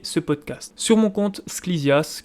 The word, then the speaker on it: Sklisias: Sur mon compte Sklizias, qui s'écrit comme il se prononce, S-K-L-I-S-I-A-S.